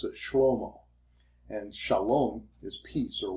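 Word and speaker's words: שלמה: In Hebrew, you would pronounce it shlomo.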